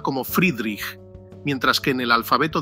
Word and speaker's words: Friedrich: Según el antiguo alfabeto fonético alemán, la F se pronunciaba como Friedrich, mientras que en el alfabeto de la OTAN actual correspondería a Foxtrot.